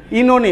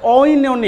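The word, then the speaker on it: Oenone: ঠিক আছে তারপর হচ্ছে ইনোনি উচ্চারণ কি ইনোনি ও উচ্চারণ এখানে হবে না ইন অথবা ইনোনি দুইটা সঠিক উচ্চারণ বাট ও উচ্চারণ দিয়ে ও ইনোনি এরকম হবে না ঠিক আছে ইনোনি হ্যাঁ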